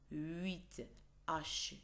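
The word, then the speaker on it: huit: لا ينطق 7، اوكي، 8 8 H اللي هو silent H U I T، 8، 13، 13 T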